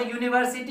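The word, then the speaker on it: university: प्रयोग तो होगा, और इसका जो प्रोनाउंसिएशन है यू, ठीक है, ये वोवेल साउंड नहीं है, है ना, कॉन्सोनेंट साउंड है, इसलिए यहाँ पर ए लगाए हैं, ठीक है।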